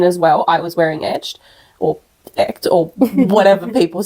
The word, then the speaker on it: Echt: Is this how you pronounce it as well? I pronounce it that way. I hope everyone else does. Well. Etched. E-C-H-T. Okay. Etched. Yeah, my Greek brain pronounced it echt. Echt. There's another way, tell us.